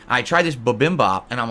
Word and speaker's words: bibimbap: And I'm literally just eating in a circle, and I'm like, Yeah, bibimbap. That's the way you pronounce it, not babimbap.